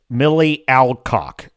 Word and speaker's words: Millie Alcock: Millie Alcock is how you pronounce her name correctly.